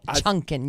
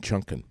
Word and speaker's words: chunkin: pumpkin a pumpkin no chunking you gotta say it right pumpkin chunkin I have no there's no end in chunking it's chucking c-h-e oh